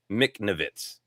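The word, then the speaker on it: Michnovetz: It's pronounced Mcnavitz."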